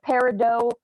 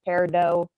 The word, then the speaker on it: peridot: some words can be like peridot and peridot you know some people say peridot some people say peridot but the natural way is peridot because yeah it's just